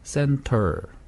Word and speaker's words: center: 이렇게 center. T 발음을 해도 되는데 T가 N 다음에 오기 때문에 그냥 center. 그렇게, center. 네, T 발음이 없다고 생각하는 거 그냥 center 이렇게 해도 됩니다.